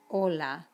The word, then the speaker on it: hola: be careful with that but you know that hola is pronounced without the h so build on what